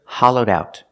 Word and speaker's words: hollowed out: say it's hollowed out pronounced Ed with a D sound hallowed think it with the next word out together hollowed out this is a hollowed-out